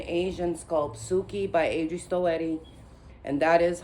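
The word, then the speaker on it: Stoete: But I'm also going to be reborning an Asian sculpt, Suki by Adri Stoetti. And that is how you pronounce her last name.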